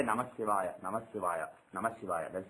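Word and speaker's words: नमः शिवाय: you remove the sandhi, when you say Namah Shivaya, if you pronounce it like that, taking little breath in between those 2 words, Namah Shivaya, then it becomes 2-worded. It's a 2-worded mantra.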